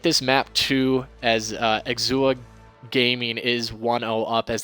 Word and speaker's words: Exousia: in the chance uh exuha it okay it's pronounced exua okay exuber okay got